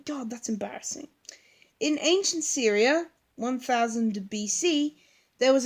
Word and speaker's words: Syria: now know how to say it guys it's Syria Syria say it with me Syria they're much better God what can I think about the first time god that's embarrassing in ancient Syria one thousand see there was a goddess who